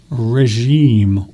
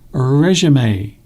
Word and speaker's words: regime: your new healthy regime, or as they say in American English, regime. It's very strange, isn't it? They say it, different pronunciations. They say it in a very strange way. They say regime, not regime.